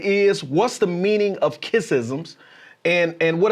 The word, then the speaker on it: Kissism: So I'm just excited, brother, and the juicy part that I've been waiting to talk to my audience about is kissisms. Oh. Now, wait, did I pronounce it right?